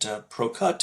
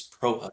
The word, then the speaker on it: Prochut: We get Procut and Proshoot, so thank you, Kevin. It's Prohutt. The C is silent, go figure.